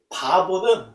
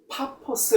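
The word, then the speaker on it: Paphos: 있는 바보 에 다다릅니다 바보는 약간 우리 얼음으로 조금 좋지 않은 어 다 보이지만 사실은 어 파 퍼스 라고 발음한 한번 더 정확합니다 그곳에서 바이 수 라고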